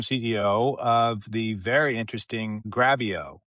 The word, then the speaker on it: Grabyo: I am here as we speak with Gareth Capen, the longtime CEO of the very interesting Gravio, which rhymes with video, which is what they do.